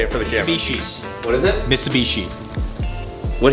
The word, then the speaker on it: Mitsubishi: Dude, how do I even pronounce it? Mitsubishi. Wait, you say it for the camera. Mitsubishi's.